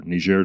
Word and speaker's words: Niger: The Americans had made a big investment in Niger or Niger, the French pronunciation, and yet and that's been lost at this point.